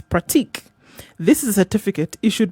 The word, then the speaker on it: pratique: It's practice in French, but it's pratique.